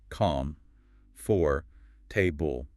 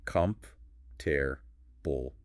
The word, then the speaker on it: comfortable: When you look at the spelling, it looks like 4 separate sounds. Calm, for, table. But native speakers rarely pronounce all 4 sounds, do they? Almost never. To speak smoothly, we compress the word into just 3 sounds. We say comf, tear, bull.